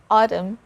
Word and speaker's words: autumn: not autumn it's autumn we stop there we don't pronounce or we don't sound the letter n here so it's a solid letter n autumn i make sure